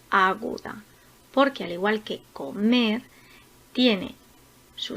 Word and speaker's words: comer: Por ejemplo, la palabra comer es una palabra aguda porque tiene la sílaba tónica en la primera sílaba comenzando por el final. Mer, comer.